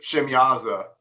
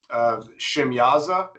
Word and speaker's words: Shemyaza: I can't say his name. I Shemziah. pronounce it Shemyaza, Or but Shemyaza, you know, yeah. it's not wrong to say it how Brian says it either. There's multiple spellings, multiple pronunciations of that name.